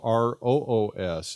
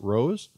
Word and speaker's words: Roos: Is that the proper pronunciation in Holland? Is it Roos? Yeah, it is rose because it's the same meaning, the flower. Okay. Yeah. So, Roos, why don't you tell everybody where it is that you are at the moment, where you live? Okay. Hi, everyone. I'm Roos. That's how I pronounce it. But it's fine that people call me Roos, like the kangaroos.